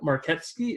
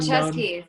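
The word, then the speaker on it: Marczewski: Her name is Jane Marketsky. Is that say it right? Also known Marcheski with CH. Marcheski. Yeah, I'm so close.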